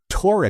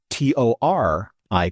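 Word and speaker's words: Taurik: Tori is spelled T A U R I K. Voric is spelled V O R I K, but phonetically they're the same.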